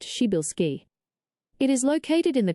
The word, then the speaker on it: Przybylski: Widely known in astronomy as Tribilski star, pronounced Shibilski.